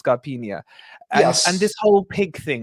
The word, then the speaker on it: Scarpinha: It's a bit of a "y" at the end, isn't it? It's Scarpinha.